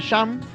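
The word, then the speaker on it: shunt: Se escribe shum, ¿verdad? Y se lee sham, que es el cortocircuito, ¿verdad?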